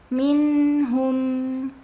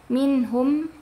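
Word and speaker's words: مِنْهُم: Minh minhum. Minh. Jadi kalau mimnya itu ee dia sukun, jadi jangan sampai dibacanya itu minhum udah selesai, tapi dia ada gunahnya.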